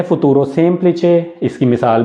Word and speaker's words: futuro: अगर मैंने कहा है फुतूरो, आप उस पर गौर करें कि उसमें कौन से स्पेलिंग होंगे, फुतूरो, तो देखें एफ है, ऊ